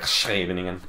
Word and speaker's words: Scheveningen: I just call it Scheveningen, but it's pronounced like Scheveningen. I'm not even gonna attempt it.